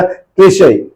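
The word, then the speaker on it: cliché: आप देख रहे हैं क्लिशे, प्रोनाउंसिएशन में प्रॉब्लम हो, इसलिए आपको मैंने लिख दिया है, इसका प्रोनाउंसिएशन किया जाएगा क्लिशे।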